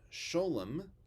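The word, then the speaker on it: שלום: peace in yiddish and the words for shabbat and for peace in yiddish are the hebrew words just pronounce the way yiddish speakers pronounce them so shalom becomes sholem shabbat becomes shabbos by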